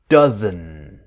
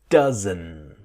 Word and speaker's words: doesn't: doesn't but what happens the T is silent it disappears so we want that strong n dozen dozen and it will connect